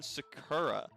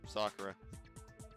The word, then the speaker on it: Sakura: So it could have been Sakura that got the poison bottle, right?